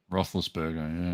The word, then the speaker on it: Roethlisberger: say this to his name ruthless burger roethlisberger roethlisberger yeah he's getting a bit old didn't he